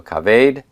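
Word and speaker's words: כָּבֵד: And because that shava is a vocal shava, I'm going to see a metheg to disambiguate that kametz and make sure that everybody knows that that is going to be pronounced as a long A and that the shava will be vocal.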